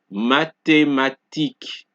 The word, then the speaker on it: mathématiques: Mathématiques, thème, T. Alright? So in each word, you're only hearing the T being pronounced. You don't hear the sound of the H.